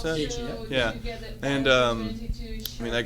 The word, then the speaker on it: Gaethje: How do you pronounce that? Gaethje, yeah.